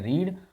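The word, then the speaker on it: read: first form होती है रीड और सेकंड फॉर्म भी होती है रीड लिखी स्पेलिंग रीड होती है लेकिन पढ़ा जाता है रेड यानी राम कमला एंड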